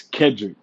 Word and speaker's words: Kedrick: Tell us about Kedric. You know, your background and first off, am I saying your first name right? Is it Kedri? It's Kendrick. It's like Cedric. Yes, sir.